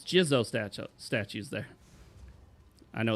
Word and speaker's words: Jizo: Oh, it's it's Jizo statues there. I know it's pronounced Jizu.